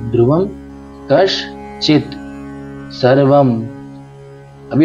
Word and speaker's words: कश्चित: अब ये देखिए क श, तो ये क श और नीचे चित, तो हम इसको पीछे पढ़ेंगे, मात्रा को इसके साथ में पढ़ के चित पीछे हो जाएगा और कश आगे हो जाएगा।